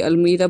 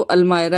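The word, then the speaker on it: almirah: और सामने ही देखिए ये अलमीरा बनी हुई है यहाँ पर भी, कुछ लोग बोलते हैं अलमायरा बोलते हैं, जो इसकी प्रोनाउंसिएशन है वो अलमायरा है।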